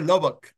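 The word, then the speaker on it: Lubbock: a la ciudad de se pronuncia lobec no a ver corrían eh o se escribe lubo sea como si fera una o bueno se dice loboc loboc ahí está loboc como el lobo no pero loboc bueno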